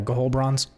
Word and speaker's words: Ghohlbrorn: Yeah, Gahol Bronze. Goal? Okay. It looks weird because there's 2 H's and 2 R's in places where they should not be.